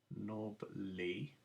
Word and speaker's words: knobbly: and nobody knees now nobody's a funny word because it has a silent k at the beginning so knob knob lee and then sodon's knees